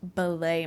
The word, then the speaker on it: billet: y'all to know that in Canada it is pronounced ballet moms, not billet moms, because it just sounds better and it means ticket in French."